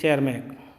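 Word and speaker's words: Tschermak: E.B. शेरमैक, T silent रहेगी और Latin भाषा का SCS हिस्सा बनेगा, तो E.B.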